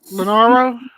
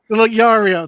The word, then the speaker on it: Leorio: My character, alright, from Hunter X Hunter, Leonaro, the doctor dude from Hunter X Hunter with the sunglasses, the suit, the black hair. Yeah. Leorio? Leorio, that's how you say his name.